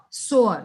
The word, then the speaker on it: sower: The title of the poem is The Sower. What do you understand from this title? SOWER, sower. W is silent.